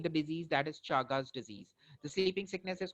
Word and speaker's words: Chagas: is going to cause chagas disease or the other pronunciation is chagas disease so chaga's disease is